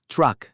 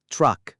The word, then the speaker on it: truck: แปล ว่า รถ บรรทุก ออก เสียง Truck โดย ออก เสียง ทร รอ ควบ กัน นะ ครับ Truck และ อีก ครั้ง ครับ Truck คุณ พ่อ คุณ